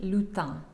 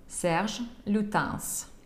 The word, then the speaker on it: Serge Lutens: так это звучит по-французски иногда некоторые французы могут забыть про последнюю букву s и произнести лютон ну именно потому что иногда последние согласно не читается во французском языке здесь будучи именем букву s произносит serge lutens мы русскоязычные не имеем